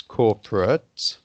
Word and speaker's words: corporate: it's the adjective it's corporate when it's the noun it's also pronounced ut at the end like a delegate like a candidate but when it's a verb then it's always eight you see that you